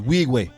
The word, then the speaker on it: Nwigwe: How the did way you to say actually, it's Nwigwe. Nwigwe. Nwigwe is the American way, but it's Wigwe is how you really say it.